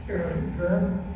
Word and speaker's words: Purim: Purim.